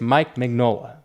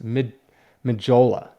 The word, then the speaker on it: Mignola: one is so minola i want to say it's mike mignola because that's how i see it but it's mid magola i think the n is silent according to comic tom